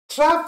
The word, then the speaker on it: trough: Trough, you can pronounce it like trough, like rough, rough. Trough, you put a T before rough, it becomes a trough.